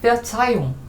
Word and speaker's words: Verzeihung: Verzeihung 여기 하가 있지만 요거는 모음 다음에 나오는 하니까 묵음이죠. 그래서 Verzeihung, Entschuldigung, Verzeihung 이건 다 용서라는 의미고요.